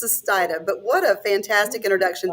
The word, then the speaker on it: Sustaita: it's okay you did you got really close it's stia but what a fantastic